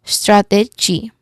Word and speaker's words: strategy: So instead of saying J, you say it as G. G. It sounds like the word GEE. G. That's it. Or the G in engine.